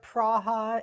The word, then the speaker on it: Praha: Here it's either Prague or Praha is the, more traditional way.